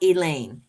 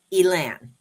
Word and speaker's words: Elain: The other one swore up and down, even, based on how English is spelled, it is not Elaine. It's Elaine. There's no E at the end.